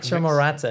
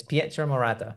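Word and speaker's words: Pietramurata: So we will be Pietra back Pietra Murata, Lewis. What did I say? You made it sound like a pizza. It's Pietra Murata.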